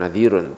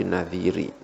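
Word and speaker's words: نذيري: Nadhiri, ya bacanya bukan nadhirun tapi nadhiri. Karena ada ya yang dibuang.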